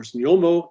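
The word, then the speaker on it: Znojmo: And that additional clash is at a place called Znaim, or Znjomo, if I can kind of get the Czech pronunciation correct, which is north of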